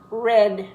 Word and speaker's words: read: but not the spelling red red the color red doesn't have an A in it but it's pronounced like the color red read red red shut